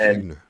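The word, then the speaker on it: Ighner: Yeah, I think you did pronounce it correctly. Yes, Igner.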